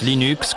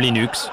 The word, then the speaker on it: Linux: Eh bien, je prononce Linux comme Linux. Cependant, si vous êtes Linus Torvalds, vous le prononcerez sans doute Linux. D'un autre côté, si vous venez de la côte ouest des États-Unis, vous pouvez le prononcer Linux.